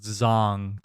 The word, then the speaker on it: Zhang: was uh Joyce versus Zhang um what'd you call me what'd you call me his name is pronounced zong technically but I know we